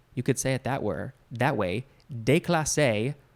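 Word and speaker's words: déclassé: that were that way de clase or de cla say de cla or cla de class say i think de clase makes much more sense because this is french de clase there is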